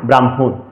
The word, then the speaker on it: ব্রাহ্মণ: এই জন্য মটা আগে আসলো, হটা পরে গেল, জন্য হলো ব্রহ্মা, ব্রাহ্মণ।